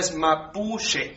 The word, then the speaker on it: mapuche: ¿Es con la CH bien pronunciada? CH bien pronunciada, claro. Ya, perfecto. O sea, es mapuche.